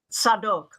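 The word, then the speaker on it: Zadok: in Jerusalem he appointed a man named zadik z-a-d-o-k in Hebrew pronounced sadok to officiate as the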